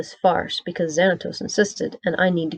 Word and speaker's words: Xanatos: farce because Xanatos insisted, and I need to keep him as an ally."